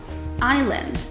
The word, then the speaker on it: island: ，我们叫做 silent letter。For example， island，岛屿这个字。